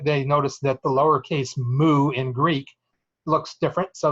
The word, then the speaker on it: mu: it it's actually the Greek letter mu pronounced you know like a cow says Moo it's the Greek letter